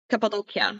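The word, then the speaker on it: Cappadocia: your home Vineyards are in can you please pronounce it cap doia capadia okay capid doia okay so capid doia that is where your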